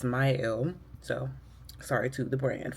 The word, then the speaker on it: Mielle: I've been saying the name wrong for a really long time, apparently. It's Mielle.